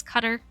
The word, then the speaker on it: Qatar: you pronounce it different some of the drivers are saying it's cutter I pronounce it cutter I'm like I'm thinking Qatar that's what that's what I'm going with fid nuts on poll